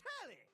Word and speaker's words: Tally: The name's Tally. rhymes with Nelly.